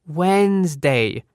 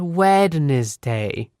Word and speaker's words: Wednesday: I asked what was wrong with it and she said, "Listen how it's pronounced. Wednesday, not wed day."